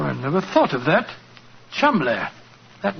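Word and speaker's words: Cholmondeley: that the name Cham is in no way pronounced the way it is spelled no jo I never thought of that Chum that name spelled c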